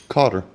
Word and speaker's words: cotter: Now, how would y'all pronounce that? A carter pin or a kata pin? Cotter. C-O-T-T-E-R. C-O-T-T, okay, because a lot of people pronounce it differently. Oh, trust me, I still say Carter even though it's a Carter, cotter. yeah, it's not Carter, yeah.